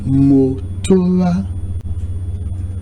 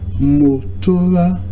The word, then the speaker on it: motora: If you look at it critically, the O sound is falling. The other O sound is rising. And the last A sound is also rising. So for the marker, the first O sound is mo. The second O and A is ora.